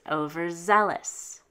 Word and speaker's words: overzealous: val val consonant therefore we're going to stress one syllable to the left because it's not a vc it's a vvc so it's pronounced overzealous so in tremendous the